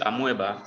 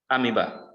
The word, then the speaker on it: amoeba: e b a amoeba some people call it amoeba but it is pronounced amiba we have the paramesium you have the euglina